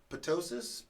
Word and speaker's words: ptosis: Do you pronounce the T? I'm totally confused. You do. About that. Okay. You do. Ptosis.